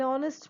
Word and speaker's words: honest: Then an heir, an honest man, an honor. I am not saying hour or hair or honest or honor. The H is silent in those words.